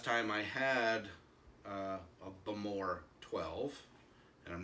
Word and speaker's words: Bowmore: the aisle of Isa bamore as it they use the uh second syllable as the emphasis what is the yeah